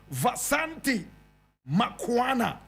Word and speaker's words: Vasanti Makwana: My brother, my sister, today I'm telling you the story of a woman by name, oh my God have mercy, Vasanti Makwana. Vasanti Makwana.